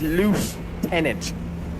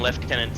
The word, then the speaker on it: lieutenant: Why is it loose tenant without an F? Well, I mean, we call them left tenants here in Australia. So, yeah, but you call it left tenant like whereas lof tenant is how it's pronounced on this one.